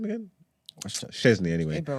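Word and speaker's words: Szczęsny: Szczesny, anyway.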